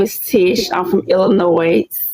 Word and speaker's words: Illinois: I'm from Illinois. Illinois with no s.